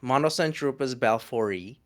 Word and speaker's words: Monocentropus balfouri: balfouri, or the balfouri. I've been corrected recently by a Latin speaker. So it's pronounced M. Monocentropus balfouri, and they are the most communal tarantula in the world.